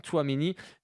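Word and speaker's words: Tchouaméni: Un doublé signé Aurélien Tchouameni. On le prononce en 2 fois, hein, pas forcément évident. Tchouameni, en tout cas un sacré joueur.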